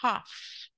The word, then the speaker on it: half: Half. Half. Yeah? Ah. I will come to school in an hour. Yeah? Wrap. Wrap. Yes. Write. No. No. Did you underline? Yes. So half, half. L is silent there.